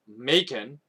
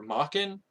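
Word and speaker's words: Maken: with Macon, or Makin, it's spelled M-A-K-E-N. I've always pronounced it Macon, but a friend of mine tried to correct me and say it's pronounced Makin. But you can decide how this name is pronounced.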